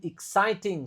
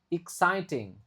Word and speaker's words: exciting: The journey has been exciting so far. Exciting. Oke. The journey has been exciting. Jadi, ini e-nya dibaca I. Lalu di sini I-nya enggak dibaca tapi dibaca I. Exciting.